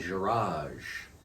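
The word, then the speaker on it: garage: welcome back to my jiraj little tip in the original french it's pronounced with a soft g like giraffe so what i got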